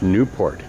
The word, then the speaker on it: Nieuport: It will fly, but it's a replica of the French Nieuport. They spell that N-I-E-U-P-O-R-T, being them French words, you spell it one way and say it another.